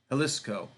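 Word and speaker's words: Jalisco: opals Min in regions like quano and helis halisco that's a jisco United States Opals are found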